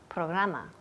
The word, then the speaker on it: program: Programa. Program. Good. Program. Program. Yes. Program. Program. Y la última letra aquí es una M. Program. Los labios tocan.